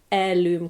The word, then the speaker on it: heirloom: And the microbes told me or initiated me into this world of of heirloom cultures and heirloom and heirloom cultures, which I called heirloom because in Scandinavian you pronounce the H.